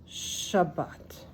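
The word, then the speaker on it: שַׁבָּת: include the vowels but these three letters the shin the BET and the T shabat you hear it shb Shabbat right shabat so there you go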